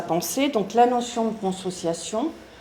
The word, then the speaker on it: consociation: Donc la notion de consociation, consociation, c'est comme ça vraiment comme ça se prononce qu'il substitue à la division moderne entre état et société.